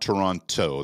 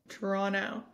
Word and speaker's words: Toronto: And if you want to fit in Toronto, it's not Toronto. That's how we'll peg you as an American right away. Toronto. That last C is silent. It's Toronto. Toronto.